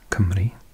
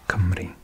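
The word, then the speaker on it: Cymru: a bit bizarre but the letter U particularly in South Wales where I'm from is pronounced like an e which is the exact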